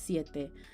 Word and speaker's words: siete: I said te like it was French. It's siete. And 6 is...